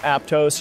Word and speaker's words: Aptos: of my favorite coastal towns in California Aptos pronounce it Aptos you're probably going to get cut off by